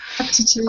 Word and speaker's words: aptitude: Aptitude. Quite a new word. It's a new word, but can you see how in tune it is? It's rhyming with attitude.